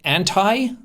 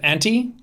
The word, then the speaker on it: Auntie: I also hate when people say anti instead of Auntie I know that auntie and anti are like a word and that you can pronounce them differently but that's his name and it's Auntie pretty darn harmless honestly